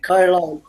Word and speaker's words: Carlisle: not pronounced like island kai-lan why it is written Carlisle yeah it's it's like it's similar to the pronunciation is in Ireland the the S is silent this s is silent